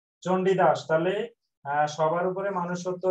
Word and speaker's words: চণ্ডীদাস: উচ্চারণ। চন্দ্রীদাস। চণ্ডীদাস।